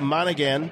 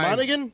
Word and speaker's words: Monaghan: All right, episode 9, actor Dominic and part-time Hobbit Dominic Monaghan. He's full-time. Monaghan? Yeah, he's full-time. Monaghan. The G is silent. No G in there.